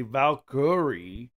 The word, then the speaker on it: Valkyrie: You know, if you pronounce it correctly, Valkyrie, there you go. You can actually know there's a Y in there, but...